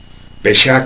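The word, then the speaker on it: פשע: En hebreo, Pesha. Lo estoy pronunciando como se escribe. Tal vez tenga un error de pronunciación, pero quiero que así se lo lleve. Pesha con acento en la E.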